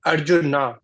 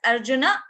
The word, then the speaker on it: Arjuna: bad but you mentioned Arjuna Arjun is a mistake and it is popular from Hindi language in Hindi language we